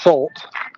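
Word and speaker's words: Sulte: so it's it's pronounced salt so it's s-u-l-t-e and if you just drop the e it's like salt but with a u so salt got it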